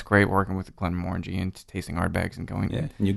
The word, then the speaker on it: Glenmorangie: And having Dan be so accommodating, it's great working with Glenmorangie and tasting Ardbegs and going. Yeah, and you got it as well, Glenmorangie. Nailed it. Nailed the pronunciation.